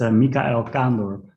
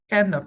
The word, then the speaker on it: Kaandorp: It's Mikael Kaandorp. Kaandorp, okay, Mikael Kaandorp.